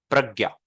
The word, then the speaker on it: प्रज्ञा: और एक वर्ड है प्रज्ञा, तो उसमें प पहले प्रोनाउंस क्यों हो रहा है? क्योंकि र नीचे है, प्रज्ञा।